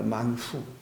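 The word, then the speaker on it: מן הוא: 여러분 만나라는 말이 우리가 발음할 때 영어로는 뭐 만나 이렇게 하고 우리나라 말로 만나 하지만 원래 히브리 말로는 만후입니다. 만후.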